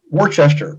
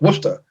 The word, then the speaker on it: Worcester: at the silence it looks like it says Worcester but it's actually pronounced Worcester you know Leominster not Leo Mister so any